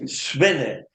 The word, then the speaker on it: Swinne: hay que tener cuidado porque el nombre preciso, y hay que pronunciar muy bien, y yo voy a decir por qué, es Svenne.